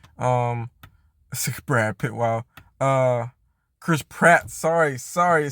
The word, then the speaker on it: Chris Pratt: of like the cast Brad Pitt or yeah Chris pit sorry um Brad Pitt wow uh Chris Pratt sorry sorry I said that name wrong twice Chris Pratt sorry um the uh